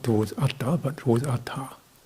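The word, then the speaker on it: attha: Fashion steer desire towards ATA not towards ATA but towards ATA it's good to get the pronunciation right ATA is goal purpose welfare ATA is self at you know work on pronunciation the parata the highest welfare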